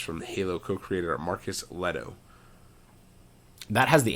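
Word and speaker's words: Lehto: a sci-fi FPS from the Halo co-creator Marcus Leto that has the H in it so you know that it's Leto it's like you wouldn't pronounce that leet it's less so let o with that anyways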